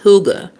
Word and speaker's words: hygge: The Danish have a word, haig, pronounced huga.